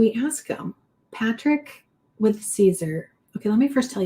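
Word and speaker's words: Siser: Caesar.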